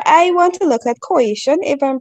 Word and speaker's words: coition: So I want to look at coition, if I'm pronouncing the word correctly. Yes, correct. Coition.